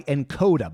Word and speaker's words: Nkoda: This episode is brought to you by Encoda. By the way, that's spelled Nkoda.